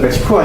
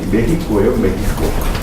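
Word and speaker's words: México: 미국 애들이 여러분들 그 멕시코 애들 비웃을 때, 비하할 때 원래 멕시코가 아니라 발음이 메히코예요.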